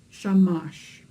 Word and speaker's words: shamash: number of vowels so in this case the word shamash has two syllables a syllable being that part of a word that has its own beat so shamash is sha mush two beats two syllables the secret of good